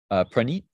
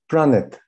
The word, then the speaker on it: Praneet: Did I say your name right? Do you want to tell me how to say it right? It's Pranit. Pranit.